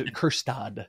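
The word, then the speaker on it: Kjerstad: with uh your bigger brains but it was kirstad is what I would keep saying I think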